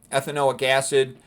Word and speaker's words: ethanoic acid: Okay, and you pronounce the whole thing with an ick at the end.